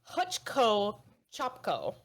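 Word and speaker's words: Hvcko Capko: vaco Capco close so it is it is pronounced hutchco chop Co hutchco chop Co hutko chco I'll I'll spell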